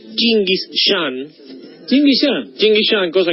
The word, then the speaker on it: Gengis Khan: Gengis Khan, pronunciado... En realidad debería pronunciarse Chinguis Khan.